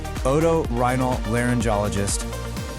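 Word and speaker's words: otorhinolaryngologist: Oto rhinal laryngologist. You did it. You just pronounced one of the longest words in the English dictionary.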